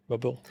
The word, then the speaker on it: Mobile: That's how you say it? Mobile. So funny, the way you said it is exactly the way they say we should say it.